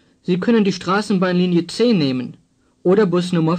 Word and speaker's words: nehmen: Nehmen has a long E sound.